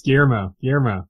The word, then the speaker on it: Guillermo: You gotta get that Spanish pronunciation, man. It's Guillermo.